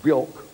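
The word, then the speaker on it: Björk: Pop stars are called Sade, who want to pronounce Sade, and Bjork, who want it Bjork.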